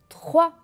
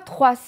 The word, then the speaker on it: trois: trois répétez après moi 3 et fait attention que le s ne se prononcent pas je ne dis pas trois c'est faux jeudi 3 d'accord voilà